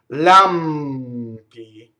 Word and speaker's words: lampi: Lampi. Again, the M going into the P, right?